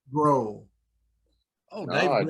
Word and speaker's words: Grohl: Dave Joel, you said? Grohl.